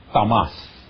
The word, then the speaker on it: tamas: Primeiro, nós temos o fator tamas. Não tem acento, mas pronuncia-se assim.